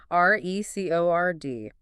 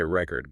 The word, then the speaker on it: record: If you stress the first syllable, record, that's a noun, right? Like a vinyl record. Okay. Record. Got it. But stress the second syllable, record. Now it's a verb to record something.